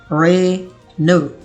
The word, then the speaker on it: Renault: they pronounce it wrong because it looks like Renault. लेकिन अगर आप इसे Renault बोलते हैं, that's totally wrong. The correct pronunciation is Renault.